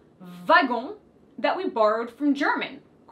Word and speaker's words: wagon: is simply the word wagon wagon wagon that we borrowed from german la a notice the difference in pronunciation because the w is actually pronounced like a v in french babysitter you understood that